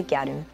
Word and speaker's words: gyaru: more often the word gatu itself it comes from the English word girl um but you know Japanese pronunciation turns into gatu and first it was